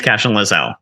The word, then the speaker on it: Cashion-Lozell: I pronounced it wrong cash laelle yeah it's cashion Lazelle that's right cash lelle yes exactly cash in I think that's where I go wrong cashion lelle okay what